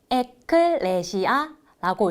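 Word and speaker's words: ἐκκλησία: 여기에 적힌 글자는 헬라어인데 마지막 글자는 에클레시아라고 읽고 교회라는 뜻을 가지고 있어요.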